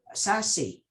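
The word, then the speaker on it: SASE: the cloud that is most fit for sassy which is what it's pronounced and and by doing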